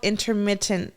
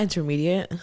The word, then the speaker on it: intermittent: not pronouncing the T it's called intermittent fasting oh that's right not intermediate I was saying it